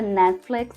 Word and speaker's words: Netflix: Mas aí na palavra Netflix, a gente tem essa tendência de falar o T, né, mas na verdade a gente não pronuncia. Netflix. Netflix. No lugar do T tem uma pausa, assim, sabe?